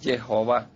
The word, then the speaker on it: Jehová: Para mí la pronunciación correcta es Jehová.